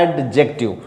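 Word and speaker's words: adjective: इसे अनाउंस कैसे करेंगे कुछ लोग बोलते हैं एडजेक्टिव यहां दी साइलेंट है बोला कैसे जाएगा एडजेक्टिव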